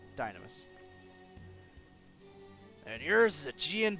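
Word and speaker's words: Dynames: its additional weaponry or dynamis i keep saying it wrong dynamos and yours is a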